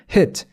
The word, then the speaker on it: hit: 그냥 의랑 이랑은 우리가 다 할 줄 아는 발음이니까 그 중간을 발음하시면 돼요. hit, hit.